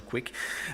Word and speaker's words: kuik: Kube Image Keeper, or Quick. We try to make it pronounced like quick with a soft U, but since I think for English speakers that's just weird, we settled on Quick.